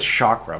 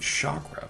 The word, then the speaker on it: chakra: My dad said chakra, but uh then, you know, people started telling me as a as an adult that no, it's chakra. I'm like, what it is? I've only ever heard chakra, but no, it's it's chakra.